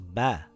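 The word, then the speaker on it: باء: This letter is Ba. It has a dot on the bottom. It is a light letter and sounds like the letter B in the word bat or the word bag.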